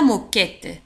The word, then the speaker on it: moquette: السجادة la moquette. une moquette. la moquette. une moquette. la moquette. لاحظوا على أن moquette تكتب ب M O Q U E تنطق K.